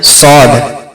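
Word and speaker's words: ص: মোটাভাবে পড়ব এভাবে তারপরে সদ সদকে উচ্চারণ করার সময় আমরা দাঁতের গোড়া আর জীবের আগা মিশিয়ে পড়ব আর সদ উচ্চারণ করার সময় সেটাকে আমরা মোটা করে উচ্চারণ করব আর তিনালি পরিমাণ টেনে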